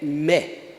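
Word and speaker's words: μή: da mesma forma, é mé. Não confunda mé aqui com um mé, né, encarcar umas cachaças. Não, mas é essa a pronúncia, mé.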